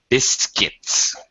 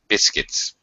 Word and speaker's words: biscuits: Biscuits. We don't even pronounce the U. It just sounds like biscuits. Biscuits. First syllable stressed.